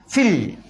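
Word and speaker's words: فِي: അപ്പോൾ ഫിൽ ഫിൽ. അവിടെ ഫീൽ എന്നൊന്നും ഓതാൻ പാണ്ട, ഫിൽ.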